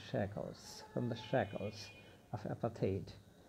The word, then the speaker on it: apartheid: অ্যাপাথেইড উচ্চারণটা খেয়াল করবে। অ্যাপাথেইড, বর্ণ বৈষম্য।